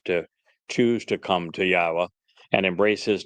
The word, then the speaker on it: Yahowah: other places are question how do you know that yah's name is pronounced yahwa you know uh languages